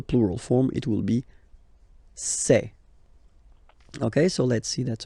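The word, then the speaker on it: ces: And for the plural, c'est. Really open this c'est, okay?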